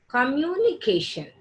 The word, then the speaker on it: communication: సో stronger, this CA is pronounced as stronger, louder and longer.